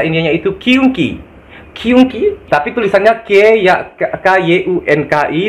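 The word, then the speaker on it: क्योंकि: Kata sambung karena itu dalam bahasa Indianya itu kyunki, tapi tulisannya K-Y-U-N-K-I, dibacanya kyunki, guys.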